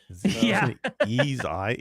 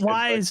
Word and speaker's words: Ys: Ease.